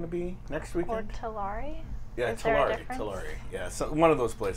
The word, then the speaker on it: Tulare: It's pronounced Tulare.